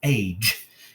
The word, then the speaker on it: age: So let's read this word with soft G like a J. J. It is age.